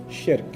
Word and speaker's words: shirk: Sounds like Shrek, so that's easy to remember, right?